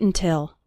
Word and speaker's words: until: wait when speaking fast the first syllable of until is barely pronounced listen to it again don't wait until don't wait until we